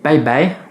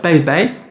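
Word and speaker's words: 拜拜: Donc dans l'usage, souvent les gens ils vont aussi utiliser bye bye. Alors ils ont des caractères qui se prononcent bye, le B il se prononce comme un B en français, et le I, eh ben, on l'a vu aujourd'hui justement, AI.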